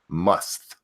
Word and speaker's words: musth: sexual tension, known as musth. I think it's how you say it, M-U-S-T-H. Must.